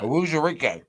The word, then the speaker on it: Onwuzurike: Yeah, it's pronounced just like it's spelled. Well, I don't know what I even said. But Onwuzurike.